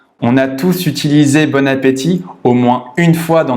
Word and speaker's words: bon appétit: à le prononcer correctement il faut faire la liaison à la fin du mob ont jusqu'au début du mot appétit on dit bon appétit bon appétit mais on ne l'écrit